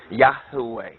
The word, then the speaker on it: Yah: Yahweh or the yod wah which more properly pronounced is yah not just Yahweh but yah yah yah and